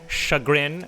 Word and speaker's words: chagrin: from USC, and it's actually chagrin.